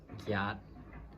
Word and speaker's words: gyat: 8 gyat. This might be a little bit difficult to pronounce, so let's practice again. Gyat, ga, at, gyat.